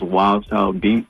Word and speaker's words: WLDCHLDBEATZ: My personal page is Wild Child Beats. It's without the I's and a Z at the end.